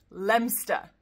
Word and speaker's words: Leominster: Another one where we're just ignoring half of the letters and cutting the whole thing down to just two syllables, and that's Leinster.